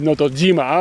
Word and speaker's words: Notojima: It says Notojima. Oh, okay, so it's G instead of she, even though they both mean it's a different pronunciation of the same character.